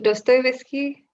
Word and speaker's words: Dostoevsky: on dostoyevsky i quite recently learned how to pronounce his name and please correct me if i'm still saying it wrong but dostoevsky yep really like russian literature and on he's